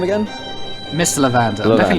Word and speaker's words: Levander: Levander, like The guard L-E-V. Like lavender pronounced wrong.